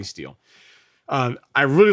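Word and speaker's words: Stihl: am partial to the tools from still right or still or steel or however you say it how are you pronouncing some people told me it's steel so i'll say steel um i really like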